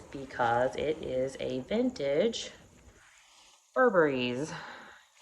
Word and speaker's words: Burberry: it is a vintage Burberry's. It's actually Burberry, but if you know, the vintage Burberry is spelled Burberry's with an apostrophe S, like that.